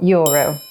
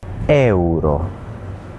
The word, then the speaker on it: euro: So try splitting it into 2 syllables. Grazie. Grazie. And what about the Italian for euro? It's another really common word that we need to say all the time. How do we pronounce it? Euro.